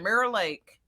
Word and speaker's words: Mirror Lake: up i'll be like mirror lake especially from texas so like that's that's this is got that draw yeah one syllable mirror lake mayor like so the band is